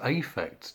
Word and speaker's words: affect: it at some point i pronounce it as affect to distinguish it from effect effect everyone knows about